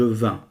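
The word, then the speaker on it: vaincs: je vins A-I-N se prononce un comme train، مثل قطار عندنا train.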